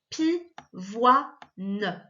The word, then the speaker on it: pivoine: Loin, une, pivoine. Tu vois là, en fait, le O-I-N, il est coupé en deux. On a wa, ne.